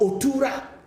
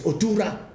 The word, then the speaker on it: Otura: the word in europa it's called otura but because our people cannot pronounce the word properly it got adulterated that's why we said tula tulatullah but the real uh word is otura and you are telling